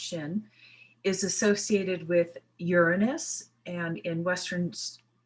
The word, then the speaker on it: Shin: This Hebrew number 21, Shin, it's pronounced Shin, is associated with Uranus, and in Western astrology, we already know that this planet is making its huge debut.